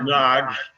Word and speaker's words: Norwich: If you live in Norwich, I think it's pronounced Narge.